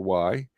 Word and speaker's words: Horry: Horry County, that's Horry. Horry County. Horry? Yes, it's Horry. The H is silent.